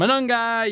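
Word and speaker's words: Monangai: And I love the way uh Chicago runs with this two-headed monster with Smith and Manungi. You got to say it like that.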